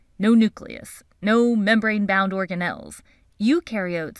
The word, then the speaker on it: eukaryote: Eukaryotes on the other hand---remember “eu” rhymes with “do” and they DO have a nucleus and other membrane-bound organelles.